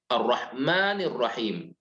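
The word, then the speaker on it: الرحمن الرحيم: lafaz Basmalah kita mendapati kata ar-rahman dan ar-rahim langsung bersambung dibacanya ar-rahmanirrohim ya tidak menggunakan kata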